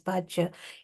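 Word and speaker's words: bāhya: But hearing this, Chaitanya Mahaprabhu says, Eho Bhaja, or Bahya, in Bengali it's pronounced as Bhaja, Eho Bhaja, Age Koho Ar.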